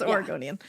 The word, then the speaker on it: Oregonian: Because Oregonian would mean we're saying it our way. Oregonian. Yeah, it's Oregonian. Yes, you're pronouncing it right, she said.